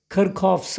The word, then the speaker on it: Kirchhoff: But actually, foreign accent ಅಲ್ಲಿ ಇದು ಕೇಳೋದಾದ್ರೆ, this actually name sounds Kirkhofs ಅಂತ. ಕೇಳಿಸ್ತಿದೆಯಾ? ನಾವು Kirchhoffs ಅಂತೀವಿ.